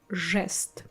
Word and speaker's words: жест: After the letters zh, sh, c, we pronounce our I, ye, yo harder. So we replace them with their hard pair I, e, o. Like this we will have жить, желтый, жест. You see, жи, I'm not saying I, soft I, I'm saying I.